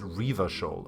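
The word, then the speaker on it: Revachol: this place is called icy river shoulders pronounced river shawl okay Oh Ranjha is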